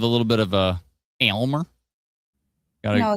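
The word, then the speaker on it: Aylmer: Oakville Storms are bad at soccer in uh Almer. Is it Almer? I forget how to pronounce it. A Y L M R Atlanta probably knows. Um, and clouds look awfully concerning. A y lmer. Elmer.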